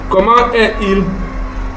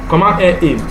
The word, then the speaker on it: Comment est-il: Yeah, this is the traditional pronunciation, the comment est-il, because you can flush these two, because when you join words together using a dash, you flush them together. Et-il. As usual, the S is never pronounced. The last word there, T, becomes pronounceable because of the joining there with this dash.